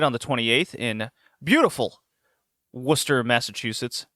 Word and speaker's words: Worcester: the 28th in beautiful Worcester, Massachusetts. Not Worcester, as I pronounced it when I first moved to Rhode Island.